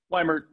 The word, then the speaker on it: Weimert: Weimert, is that how I pronounce it? Weimert.